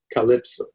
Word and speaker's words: CLPSO: For example, the CLPSO waypoint will be pronounced Calypso.